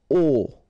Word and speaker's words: aux: Okay, so you can see that here you combine a plus les, and you will get this aux, okay? And then phonetically you produce it or you pronounce it o.